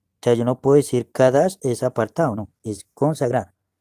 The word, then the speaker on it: Kadash: Entonces no significa, o sea, yo no puedo decir Kadash es apartado, no, es consagrar o Kadesh, ¿ve?